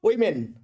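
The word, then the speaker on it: women: বলার সময় আমরা বলব উইমেন।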